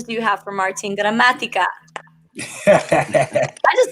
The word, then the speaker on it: Gramatica: you have for martin gramatica i just like saying your name i know right you pronounce it perfectly that's a great spanish pronunciation puerto rican dominican oh